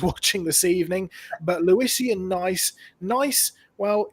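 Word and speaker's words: gneiss: this evening but luisian nice nice well it's a it's not spelt nice as in nice it's spelt uh gne iss so it's spelt slightly differently but it's a type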